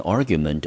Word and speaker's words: argument: 好，那 argue 这个字呢，我们在后面有看到吗？把 e 去掉再加上 ment 就变成这个字的名词，因为我们知道 ment 就是名词的字尾，所以这个字还是一样 ar 念成 r，gu 念成 gu，ment 念成 ment，重音节落在第一个音节，这个字我们念成 argument。接下来我们来看例句，Andrew agreed to settle an argument over parking with his neighbor.